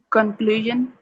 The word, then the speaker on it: conclusion: to point out that with that s-i-o-n at the end it kind of sounds like shun like s s h